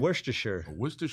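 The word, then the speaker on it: Worcestershire: Worstershure.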